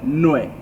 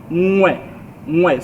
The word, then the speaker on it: ngwe: So they said nwe, right? And that's not how it's pronounced. It's ngwe. So you sort of like use your tongue more, like the inner part of your tongue to pronounce the word.